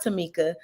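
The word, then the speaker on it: Tomeka: on the screen and my mom did name me and spelled my name a little different but it is pronounced Tamika so uh t-o-m-e-k-a and if you're going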